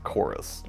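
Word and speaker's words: CHORVS: little bit darker is chorus although stylistically it's written out as c-h-o-r-v-s although I don't think it's pronounced corves but anyways yeah let's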